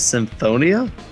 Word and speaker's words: Symphonia: unreal double seven here but it's tells us symphonia oh yeah you said it right yeah i